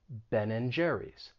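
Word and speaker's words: Ben & Jerry's: that sign for and ben and jerry's but nobody's going to pronounce and they're going to reduce it and just say n ben and jerry's and we can also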